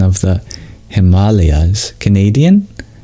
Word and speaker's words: Himalayas: the Sanskrit pronunciation of Himalayas that's one Sanskrit word that many people know um uh if it were Himalayas then it would be spelled with an E between the L and the Y but yeah it comes